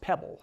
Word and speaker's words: PBL: breathe listen creates pbl creates an acronym that could be pronounced pebble that's how we remember